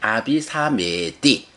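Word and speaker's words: abhisameti: 그 다음에 아비사메띠 아비사메띠 실현하다라는 말인데 여기서도 사메띠에서 이가 나오죠. 이는 에라고 길게 발음하는 거거든요. 그래서 아비사메띠 이렇게 발음이 돼요.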